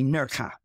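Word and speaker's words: Nerja: e or J A in Spain J is pronounced as H so always say nurka nurka is really famous for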